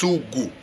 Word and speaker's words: sugu: in estonia this called this this word is pronounced sugu so it is uh it has changed in